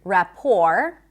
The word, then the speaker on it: rapport: Also the word rapport.